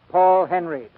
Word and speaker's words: Henreid: in many a day he pronounces his name Paul Henry he and Idol Lupino